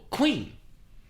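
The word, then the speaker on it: quean: called a queen again the origin of the word queen is from a german word called queen q u e a n still pronounced queen google it right now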